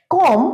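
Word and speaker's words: comb: একটা ছোট্ট টিপস দিচ্ছি, যখন এম আর বি এই দুটো ওয়ার্ড যখন একসাথে থাকবে, যেমন ধরো বম, নাম, কম মানে চিরুনি, এইরকম ওয়ার্ড যখন থাকবে তখন কিন্তু আমরা বি উচ্চারণ করব না, বি সাইলেন্ট থাকবে।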